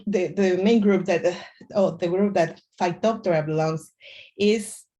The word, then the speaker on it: Phytophthora: crops vegetables and forest species um how to pronounce it is phytophthora that is also means that is a plant